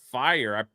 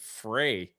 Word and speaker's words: FYRE: It's pronounced fire. I call it. I said fray. So it's FYRE, right? And everyone's like, Jay, it's pronounced fire.